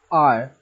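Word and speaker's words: hour: The spelling of R starts with H, and H is a consonant, but we are using an because the sound of H is silent here. I'm pronouncing it R.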